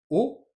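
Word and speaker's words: を: mais qu'on prononcera wa la particule wo qu'on prononcera o la particule he que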